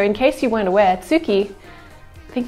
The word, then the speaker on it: tsuki: case you weren't aware tsuki i think the japanese pronunciation is actually closer to ski but tsuki is more comfortable in